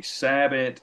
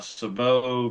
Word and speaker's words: sabot: a sleeve or any sabot or a Savo depending on how you say it where are you from